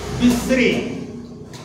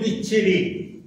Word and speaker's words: বিশ্রী: আমাদের জীব একটু ফাঁকিবাজ আমাদের মতোই, সে সহজ করে উচ্চারণ করার জন্যে সে বিশ্রীটিকে উচ্চারণ করছে বিচ্ছিরি।